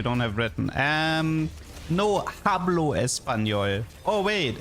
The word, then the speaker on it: hablo: Um, no hablo espanol. Oh, wait. It's no espanol. The h is silent.